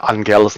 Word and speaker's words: Angela: next couple weeks is remembering that Angela's name is a hard G, not a soft G.